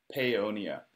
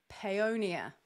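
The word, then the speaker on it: Paonia: And tell me how to pronounce the town you're from. Peonia. Peonia.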